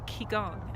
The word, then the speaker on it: Qigong: practice or the lineage practice of Qigong or ki Gong as they pronounce it and that became rooted out of traditional Chinese medicine and now ki Gong has actually practiced more so than Tai Chi